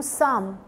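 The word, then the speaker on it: Psalm: मैं कह रही हूं साम सो दैट मींस कि यहां पी जो है वो क्या है साइलेंट है तो इसलिए प्रोनाउंस कैसे कर रहे हैं हम साम एथ में तो कोई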